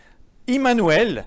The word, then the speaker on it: Immanuel: tout comprendre tout quiproquo je vais le prononcer tout le temps en hébreu comme ça vous êtes sûr que je ne parle pas de moi immanuel ce qui signifie donc